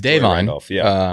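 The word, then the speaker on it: Da'Vine: apparently is Davon yeah we've been saying Davon it's Davon um good good for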